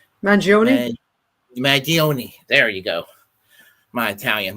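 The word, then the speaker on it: Mangione: mag mag mag mag mag I can never pronounce this last name mag magioni there you go my Italian my apologies to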